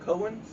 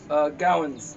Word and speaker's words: Gowan's: How do you pronounce that? Cohen's? Gowan's. Gallons. Oh, I thought that was the... Like Rose McGowan.